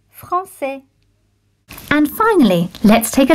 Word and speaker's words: français: La cédille makes the sound S, like in the word français.